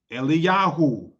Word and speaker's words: Eliyahu: Eliyahu.